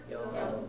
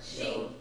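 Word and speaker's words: 四: 4, Yon. 4, Shi. 4, Yon. 4, Shi. yeah, again, they're two different pronunciations. They're somewhat interchangeable, but there are certain contexts where one or the other is required, and I'll be pointing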